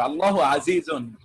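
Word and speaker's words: اللهُ عَزِيزٌ: আমি এখানে আল্লাহ মহাপরাক্রমশালী, আল্লাহুস আজিজুন, এখানে হু উচ্চারণ করা হচ্ছে কিন্তু পেস্ট নেই। আসলে কি এখানে একটা পেশ হবে? পেশ হবে তো, পেশ হবে। আল্লাহু আজিজুন, ঠিক আছে, আমার এটা একটু কনফিউশন ছিল।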